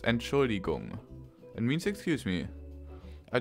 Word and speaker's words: Entschuldigung: It's pronounced Entschuldigung.